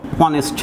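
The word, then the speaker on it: honest: এইচের দুই রকম উচ্চারণ আছে, যেমন ধরো অনেস্ট ম্যান, এখানে এইচটা কিন্তু ভাওয়েলের মতো অর্থাৎ ওয়ের মতো উচ্চারিত হচ্ছে অনেস্ট, তাহলে এর পূর্বে কি বসবে অ্যান।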